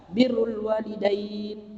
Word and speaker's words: birrul walidain: Bur maknanya gandum, bar maknanya daratan atau orang soleh, bir maknanya berbuat baik. Nah, di dalam hadis ini jangan sampai keliru, kita membacanya adalah birrul walidain, yakni berbakti kepada kedua orang tua.